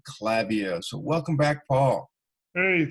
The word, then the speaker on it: Klaviyo: about a product called Klaviyo. So welcome back, Paul. Hey, thanks, Rob. And it's Klaviyo, not Klaviyo. It's an easy mistake to make.